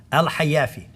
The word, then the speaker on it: Al-Hayafi: How do you pronounce it? Al-Hayafi.